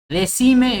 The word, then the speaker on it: decime: Decime es una palabra llana que termina en vocal, por eso no lleva.